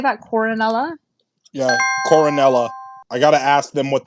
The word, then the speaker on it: Coronella: Yeah, Coronella.